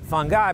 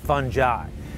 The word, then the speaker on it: fungi: A lot of people call it fungi, but it's actually pronounced fungi.